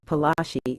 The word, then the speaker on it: Palashi: Plessy got its name plasti is an anglicized pronunciation of palashi in the place derived